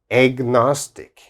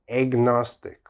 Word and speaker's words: agnostic: very strange pronunciation agnostic there's an a here but it sounds like egg like egg agnostic agnostic and what does agnostic